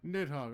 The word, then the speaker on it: Nidhogg: Nidhogg, okay. That's how you pronounce it.